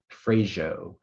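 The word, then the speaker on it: freijó: Can you pronounce it again? Frajo, frajo.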